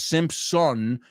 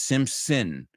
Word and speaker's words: Simpson: Lo mismo que no es Simpson, it's Simpson. So la O se convierte suena como, rima con pecado.